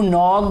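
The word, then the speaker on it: knock: डू यू नो हु नॉक्ड एट the door, क्या आपको पता है, क्या आप जानते हैं कि किसने दरवाजे पर दस्तक दी, तो नॉक में के जो है ये साइलेंट है।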